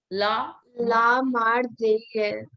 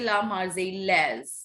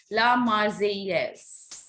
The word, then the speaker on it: La Marseillaise: La Marseillaise. Yes, double L here is silent. We don't say La Marseillaise. No, La Marseillaise.